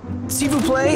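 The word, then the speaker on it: s'il vous plaît: down she will play seafoo play is how you say please in french of course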